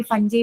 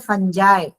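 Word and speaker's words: fungi: किसी ने अभी फंजी बोला था। फंगी बोला था। इसको फंगी नहीं बोलते। इसको बोलते हैं फंजाई।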